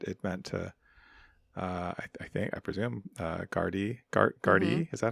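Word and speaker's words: Gardaí: The other thing, well, there was, it's funny, my autocorrect wrote guard, but it meant to, I presume, Gardy.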